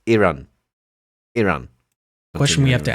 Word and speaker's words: Iran: to nitpick here, but can we just please stop just calling it Iran? I don't know why, you know, Americans can pronounce other words properly, like Italy and Iceland, but Iran is Iran.